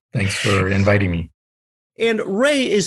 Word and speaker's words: Wray: And Ray is spelled W-R-A-Y for those listening in the audio only.